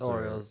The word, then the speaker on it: Orioles: is bad yeah the orioles orioles is how you pronounce it a real the oreos yeah the ariel and then um and then